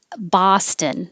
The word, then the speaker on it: Boston: Boston. This is also an ah. Boston. And we use the same vowel in Prague. Prague. Somebody had Prague Castle as a phrase, and the T is silent in castle.